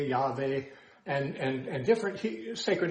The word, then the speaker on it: Yahweh: But we now know that there's no J sound in the Hebrew, and therefore most people say, well, it should be pronounced somewhere like Yahweh, Yahweh, and different sacred names